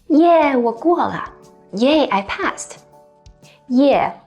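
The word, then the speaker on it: 耶: The last interjection we're going to talk about is yeah. Yeah is used to express excitement. It actually comes from the English yay, and Chinese localize it to the pronunciation yeah.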